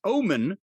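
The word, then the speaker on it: Ohman: O H M A N. It's pronounced Omen.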